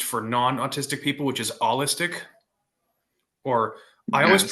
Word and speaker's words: allistic: non-autistic people, which is allistic, or I always Yes. pronounced it. I always pronounced it as owlistic, like autistic, owlistic, kind of like, Yes. but it's actually ALL.